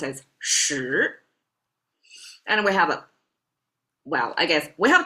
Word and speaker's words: 十: Now, the intersecting vertical line, make it into a 10, pronounced as 十.